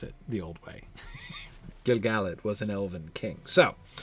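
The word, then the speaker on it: Gil-galad: Gilgalad was an elven king. So athelos in that is like Gilgalad, an intrinsically iambic word, and thus doesn't fit here.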